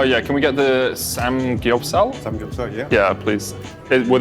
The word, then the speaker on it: samgyeopsal: Samgyeopsal.